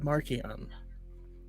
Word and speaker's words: Marchion: a Comic-Con at home, Charles Soule only said Marchion the entire time. Ultimately, I think it's really fun. And then he tweeted it. Yeah, then he tweeted it with like the spelling of the pronunciation. I was like, okay. And then Brooke's I like, I knew I was on the right side. Okay, Brooke. Okay, it's Martian.